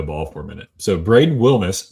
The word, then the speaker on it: Braden Wilmes: Braden Wilmes. Hey, good job pronouncing his name correctly.